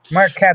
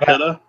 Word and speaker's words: Marchetta: Marquetta, actually, but Marchetta? Mm. when people ask, I say Marchetta, so they spell it right.